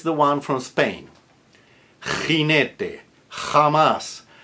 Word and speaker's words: jamás: So that's a j as in Bach, a hard j, which is spelled in IPA as an X, written as an X. So if you're doing Castilian Spanish, you want to do those really hard, guttural.